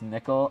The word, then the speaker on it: Nicole: It's Nicole, pronounced nickel.